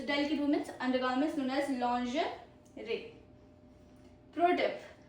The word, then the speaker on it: lingerie: Then is lingerie. Lingerie. Lingerie. Not lingerie. Lingerie. Meaning delicate women's undergarments. It's a delicate women's undergarments known as lingerie. Pro tip. French origin, very silent G. Very silent G. Lingerie. Lingerie.